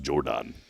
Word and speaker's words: Geordan: It's Geordan. Jordan. Jordan. It's pronounced Jordan. It's not as Jordan.